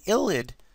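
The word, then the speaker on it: ylide: key this right here is known as an illid y-l-i-d-e now again it looks weird y-l-i-i-d but it's spell it's pronounced ill id i l id id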